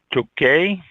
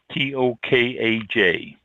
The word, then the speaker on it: Tokaj: And let's see, the next one, Tokaj, Tokaj. I don't think the J is pronounced.